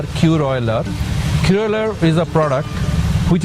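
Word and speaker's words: Kuroiler: Koylar, as we spell it, K-U-R-O-I-L-E-R, Koylar.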